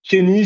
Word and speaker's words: Keyni: Kenny, c'est Keyni. Kenny, en fait, c'est le symbole, un peu l'objet le plus important pour un propriétaire, c'est une clé.